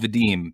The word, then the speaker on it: Vadim: all the time um my name is pronounced vadim just just so you